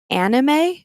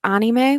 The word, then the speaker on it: anime: from animation in english it's perfectly fair to pronounce it anime but in japan they do pronounce it anime which is why that's how i pronounce it